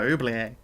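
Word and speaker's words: oubliette: put you in my oublie a it's not a silent T you you know that right the T don't be silent that sounds cool yeah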